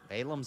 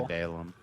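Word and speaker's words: Balaam: Balam's ass. I don't know if I'm uh pronouncing that name correctly. Some people say Balam. I say Balum. Okay. I mean Balam or Balum.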